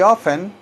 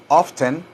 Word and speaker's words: often: him very often very often or often you can pronounce that word often or you can say often very often very frequently